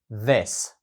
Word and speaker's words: this: цей скажіть this this тут є дуже важливою вимова першого звуку The Тобто це TH раніше ми його вчили як наприклад в слові дякую thank you там він був глухий А ось тут він дзвінкий The this положення вашого язика та